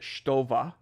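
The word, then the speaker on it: Stowa: So if you're to correct me and say I need to pronounce it Stova, then you need to pronounce BMW BMW.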